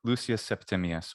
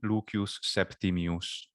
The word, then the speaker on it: Lucius Septimius: uh interesting lucius septimius yeah english would say lucius septimius or lucious lucius or lucius whatever you want to do septimius and in classical latin pronunciation leukeus septimius that's cool i like that pronunciation and of